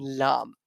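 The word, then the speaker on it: ل: Ra and Lam, both of them are being pronounced with the tip of the tongue and front palate.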